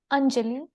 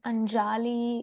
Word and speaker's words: Anjali: name is Anjali and it's Anjali it's not Anjali it's not unruly it's